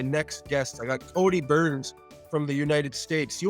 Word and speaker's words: Byrns: it's very ironic that my last name is pronounced burns and i always joke